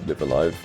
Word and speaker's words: Live A Live: As for my money, the greatest RPG that was released in the year 2022 would have to be Live Alive, or Live a Live.